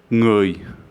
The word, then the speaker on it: người: pronounce this correctly, is if we take a word in English like thing, thingy, thingy, and try and overpronounce the end of that word, thingy, lose the th, ingy, ingy, lose the I, ngi, ngi.